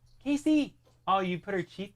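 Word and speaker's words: Kaci: not uh surprised yeah we spelled it differently but it's definitely pronounced Casey but it's k a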